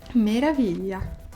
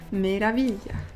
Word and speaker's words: meraviglia: Meraviglia. Meraviglia. Meraviglia. Since I'm Roman, I pronounce meraviglia like meraviglia, but it's actually meraviglia because it's GL, so meraviglia.